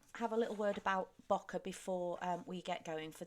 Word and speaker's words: bokeh: the month of December, and our theme was bokeh. So I'm just going to have a little word about bokeh before we get going, for those people who